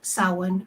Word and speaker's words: Samhain: I just want to say for our viewers that might not know what Samhain is, it's a lot of times confused with Sam Hain because that's kind of how it's spelled.